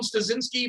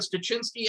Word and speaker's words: Stuczynski: I answer the phone Stuczynski, but Stuczynski, anything you're comfortable with, I'm comfortable. It's usually pronounced.